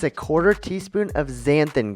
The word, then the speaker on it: xanthan: It's a/4 teaspoon of zanthan gum and it's spelled x a n t h a n.